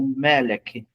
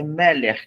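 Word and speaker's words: מֶלֶךְ: O, eu esqueci de falar esse detalhe, esse RAF final aí, tá com chevá dentro dele, como ele é um RAF final, se ele foi, se fosse no começo, seria CAF, né?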